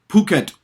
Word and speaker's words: Phuket: Now, in Thai, by the way, H is after a P is silent. So they don't use the F, PH as we do. They use P and H is silent.